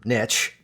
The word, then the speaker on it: niche: fan of the term niche because we prefer that pronunciation because it rhymes with rich.